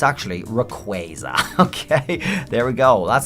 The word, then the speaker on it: Rayquaza: And to finish off our little news show here, an official pronunciation of Rayquaza. Well, it's actually Rayquaza.